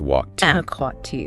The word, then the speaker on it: walked: So if a verb ends in one of those voiceless sounds, the e d ending is pronounced as a t sound, just a t.